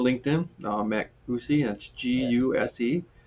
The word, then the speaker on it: Guse: Guse. You can pronounce it Matt Guse, who loves Lucy.